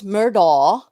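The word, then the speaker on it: Murdaugh: And is it pronounced murder? It's murder, like daw, like DAW, but everybody mispronounces it.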